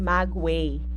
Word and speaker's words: maguey: right so wait Magway oh this one is pronounced as Magway Magway so it is a type of plant